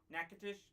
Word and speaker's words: Nacogdoches: out so long that nakatish that's it yeah I get Nacogdoches down all the time because it's one of those cities that's not pronounced as it's spelled uh the the demons